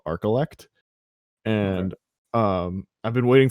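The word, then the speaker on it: Archillect: spot for this but it's called arcelect it's spelled a-r-c-h-i-l-l-e-c-t and all it is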